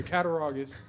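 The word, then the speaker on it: Cattaraugus: I've been trying to figure out how to pronounce it. So, Katarogus.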